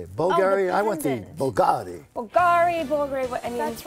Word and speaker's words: BVLGARI: I want the BVLGARI.